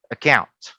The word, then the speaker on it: account: Month, account.